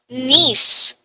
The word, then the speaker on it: knee: let's see knee me k is silent k is siren yes